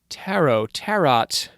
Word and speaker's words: tarot: One method of divination he promotes involves the tarot deck. Tarot.